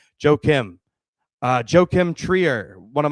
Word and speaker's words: Joachim: uh thanks Rob for telling me how to pronounce that correctly. Joachim Uh Joachim Trier, one of my favorite filmmakers, but Sentimental Value did nothing for me.